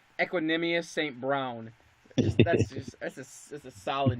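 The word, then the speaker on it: Equanimeous St. Brown: Now I don't know if I'm going to be saying it right either, but I believe it's pronounced Equanimous St. Brown.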